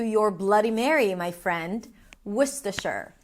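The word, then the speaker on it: Worcester: So, let's break it down. The first syllable is w a w sound and the uh sound as in cook, look, book. Would woman w. The second syllable is st. Stu, an s sound, a t, and awah. Stu. It's almost like you want to say stuff, but a lot more reduced. Wor. The final syllable is sure. Sure as in sure.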